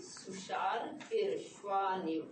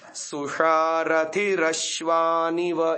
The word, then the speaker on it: सुषारथिरश्वानिव: आचार्य जी मैं इसको ऐसे बोलती थी, सुषार फिर श्वानिव, हाँ राग को इसके साथ मिलाते हैं। सुषारथिरश्वानिव, ये शुद्ध उच्चारण है।